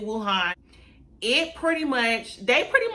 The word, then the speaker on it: Wuhan: in Wuhan China okay I thank you pronounce it will Han it pretty much they